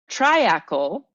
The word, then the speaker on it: triacle: Treacle for the UK comes from the French triacle, is how I'm going to pronounce it because it's Triacle, which is rooted in